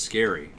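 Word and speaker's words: Scarry: Oh, it's pronounced scary.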